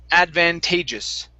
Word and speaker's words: advantageous: word is pronounced advantageous.